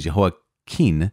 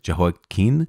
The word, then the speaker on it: Jehoiakim: Now, there was Jehoiakim with an M at the end, and Jehoiakim with an N at the end. I've also heard his name pronounced Jehoiachin with a kind of soft ch, Jehoiachin. But Jehoiakim is how I committed to saying it when we were reading 2 Kings and 2 Chronicles. So let's continue on with this maybe potential mispronunciation. King Jehoiakim of Judah, he reigned after Jehoahaz, right?